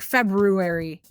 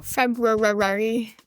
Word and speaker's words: February: Just like February. Because February has a random R in it. So February.